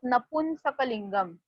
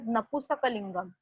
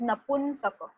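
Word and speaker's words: नपुंसकलिङ्गम्: down the spelling of Napunsakalingam, and please don't pronounce it as Napusakalingam. It is not Napusaka, it is Napunsaka.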